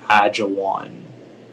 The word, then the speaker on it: ajwain: please it's a noun it's pronounced agile one agile one yeah that sounds better